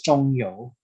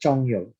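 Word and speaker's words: 鍾繇: known person who invented the standard script is chongyo that's how you pronounce it chongyo he is the father of the regular script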